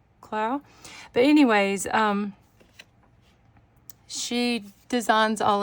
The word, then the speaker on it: Clough: I've always said Clow. It may be pronounced Clough, but I'm pretty sure it's Johanna Clow.